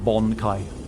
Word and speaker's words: bankai: not native to me incorrectly here we go bankai boom yeah there you go Oh Bette mule